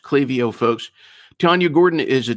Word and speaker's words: Klaviyo: It is pronounced Clavio, folks.